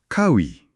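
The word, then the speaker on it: 가위: Makanya pengucapan vokal A dan O harus jelas. Ini Kawi bukan oi.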